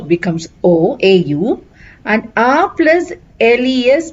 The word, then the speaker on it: aux: A means at or to. A plus le contracts and becomes o. A plus la remains a la. A plus le contracts and becomes aux. The pronunciation is again o.